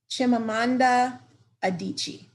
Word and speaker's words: Chimamanda Adichie: She's a Nigerian novelist, and I'm saying her name like Chimamanda Adichie.